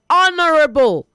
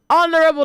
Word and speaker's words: honorable: I will say say honorable. Honorable not honorable. Okay. Don't pronounce the H in the word honorable.